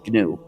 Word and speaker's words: GNU: name of our system please pronounce it with a hard g pronounce it gnu if you call it